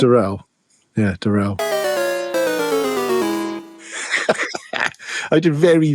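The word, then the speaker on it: Durell: Welcome to Durrel Software.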